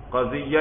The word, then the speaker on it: قضیہ: بھی کہتے ہیں بھائی، قضیہ یہ یا مشدد ہے یاد رکھنا بھائی، قضیتن بھائی، سمجھ